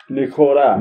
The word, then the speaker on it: ニコル: Well, you know how they enunciate it as it's Nikoru. Nikoru! Nikoru! That's just because they don't pronounce L's as...